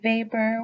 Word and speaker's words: Weber: So Max Weber was from Germany, which is why I pronounced the W in his name as a V, in case you're wondering why I'm saying it like that.